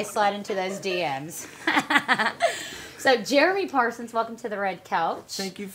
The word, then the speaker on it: Parsons: Even so, got the S. Parsons. I'm plural, not singular.